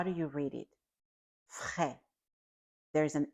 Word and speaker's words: frais: Frais. There's an S at the end. We do not read that S at the end. Frais. The second word is grand.